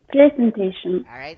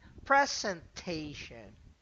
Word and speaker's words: presentation: and cut my presentation presentation the first syllable present no second presentation presentation all right now